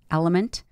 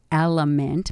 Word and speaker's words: LMNT: the podcast and that's element pronounced element but actually spelled lmnt phenomenal phenomenal product they